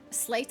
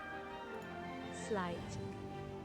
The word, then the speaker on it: sleight: How do you pronounce slight? Slight. Sleight of hand? Wait, what did I say? Slight is right.